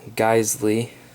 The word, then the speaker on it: Geissele: like and enjoy and that would of course be pronounced a properly geely trigger this is SAS AE